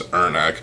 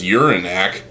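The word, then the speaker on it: Irnakk: I always pronounce this Ernak. If you pronounce it as Uranak, well, maybe you gotta urinate.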